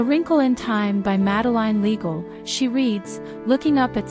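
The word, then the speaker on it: Madeleine L'Engle: "A Wrinkle in Time" by Madeline Legal, she reads, looking up at Silo as she carefully pronounces the author's name.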